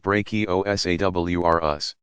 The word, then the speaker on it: Brachiosaurus: Used to be called Brontosaurus, and Brachiosaurus, pronounced Brachiosaurus.